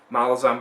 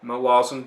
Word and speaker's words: Malazan: say malazan but um apparently it's supposed to be pronounced my laws and i don't care either